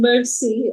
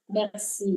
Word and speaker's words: merci: It's not mercy. Merci. Merci. Merci. Merci beaucoup. It's almost like you're Merci swallowing.